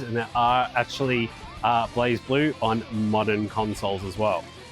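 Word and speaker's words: BlazBlue: into the fighting genre Blaze blur no blaze blue blaze blur what am I thinking uh this is the Continuum Shift variant I love Blaze blue even though I mispronounced it I do like my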